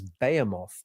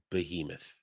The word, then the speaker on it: Behemoth: would become known as Bayamoth was in many ways the most straightforward. A direct assault by a hive fleet that that's behemoth. that that Ian that that word is pronounced behemoth whose tactics were